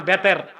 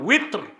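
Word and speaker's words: وتر: তো শব্দটা হচ্ছে কি ওয়েত, আপনারা বলেন বেতের। শব্দগুলো উচ্চারণ কেন সঠিক করতে বলি? আল্লাহু আকবার। আপনি উইত্র শরীয়তের দৃষ্টিতে শুদ্ধভাবে উচ্চারণ করলেও সওয়াব পাবেন।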